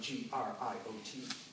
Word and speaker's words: griot: Of course, it's being written in French, so it's spelled G-R-I-O-T, griot.